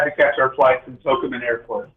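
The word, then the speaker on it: Tocumen: I was going to tell you about my trip yesterday, but we had to catch our flight from Tokumen Airport. It's not Tokumen, it's Tokumen.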